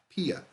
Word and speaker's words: Pia: My name is pronounced as Pia. Pia. Like Pia. Like a PIA. Pain in the ass.